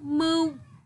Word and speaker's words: mưu: từ sau đầu tiên cô lưu ý các con đọc đúng tiếng mưu khi đọc tiếng có bình ưu con nhớ Miệng Mở hẹp lưỡi uốn cong nhẹ âm mưu mờ tất